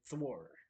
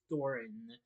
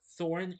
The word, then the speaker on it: Thorin: I said Thor. May have mispronounced it. Bard asks Thorin for the share of gold previously promised by the to the people of Lake Town, but Thorin refuses.